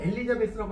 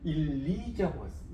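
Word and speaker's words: Elizabeth: 우리가 엘리자베스라고 하면 영어로 읽을 때는 엘리자베스라고 읽으면 안 돼요. 일리저버스. 여기에 강세가 와서 우리말로 쓴다면 일리저버스. 이 정도로 이제 발음이 됩니다. 아시겠죠? 우리가 엘리자베스 읽으라고 하면 대부분 사람들이 엘리자베스 이렇게 읽는데 틀렸어요. 그렇게 발음 안 합니다.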